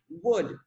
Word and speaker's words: would: Remember the pronunciation is would. The O and the L are silent, would.